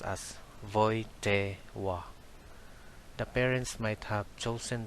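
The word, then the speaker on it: Wojtyła: the pope is carol w is pronounced as v and l is pronounced as w that's why the family name of carol is pronounced as voite wa the parents might have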